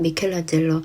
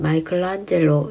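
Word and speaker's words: Michelangelo: 시대를 한 시대를 풍미한 미켈란젤로 아 그리고 아시는 분은 아실 텐데 영어권 사람들은 마이클안젤로 이렇게 발음하니이 점 주의하세요 대학때 여행 가서 같은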